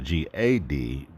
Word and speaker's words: Gad: We're gonna talk about vowels later because there's a big problem with vowels, but when you look at it in Hebrew, it is spelled with just a G-D, and it's pronounced Gad.